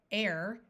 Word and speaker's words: heir: to be silent eight 80 we wait Veil air this word air means somebody who inherits something